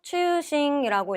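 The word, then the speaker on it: 中心: 중심은 한자 그대로 음독하셔서 추싱이라고 읽어주시면 되고요.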